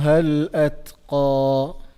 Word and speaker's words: الأتقى: And then the lam here, the word al-atqa, the lam is lam al-qamariya, so it is pronounced. Then we have the letter ta, which is sakin, so we have to make sure that we are doing the hams on it. That sound has to be there. At qaf is a heavy letter, so we have to make sure that we are pronouncing the qaf in a heavy manner.